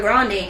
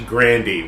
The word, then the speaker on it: Grande: those who don't know she prefers that her last name be pronounced properly it's not grande it's actually Grandy which makes her sound